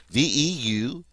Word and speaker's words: veulent: And then finally, our il plural form is going to be V-E-U-L-E-N-T. Ils veulent, veulent, V-E-U-L-E-N-T. Notice, of course, that that ending is silent.